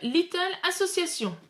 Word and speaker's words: Little Association: aujourd'hui je vous présente le jeu little association je prononce à la française c'est un jeu édité